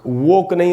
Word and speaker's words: woken: तो दोस्तों इसका सेकंड फॉर्म होता है वोक और इसका प्रोनाउंसिएशन है वोक। वोक नहीं होगा, जैसे होम नहीं हुआ था होम, वैसे ही ये होगा वोक।